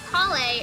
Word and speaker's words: Collei: Oh, it's because we were trying to figure out how they wanted to pronounce Collei, and Chris was like, oh, it's like cauliflower.